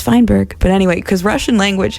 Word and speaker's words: Feinberg: And it's pronounced Feinberg.